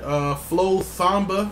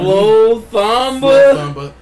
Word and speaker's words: Flo Thamba: Flo Thamba. I just want to say his name. Flo sounds like Obama. Flo Thamba is his name.